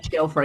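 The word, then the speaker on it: Ejiofor: played by uh Shiv, forgive me if I pronounce this wrong. Uh should we tell E- Ejirofer? Um It's just Ejirofer, yeah.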